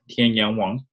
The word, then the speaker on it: Tianyang Wang: as you can see my name is originally pronounced Tian Yong Wong and I choose to